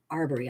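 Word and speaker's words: Arbery: Amadou are are buried I'm gonna do are burry I believe that is the pronunciation he was out jogging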